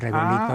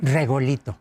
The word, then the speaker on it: regolito: Regolito. Regolito. Esa es la... Como Rigoletto, pero es regolito.